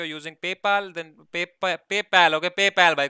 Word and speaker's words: PayPal: इफ़ यू are using पेपाल then पेपैल. Okay पेपैल भाई खुश लोग मेरे को इतना बोलते पेपाल नहीं है पेपैल है भाई.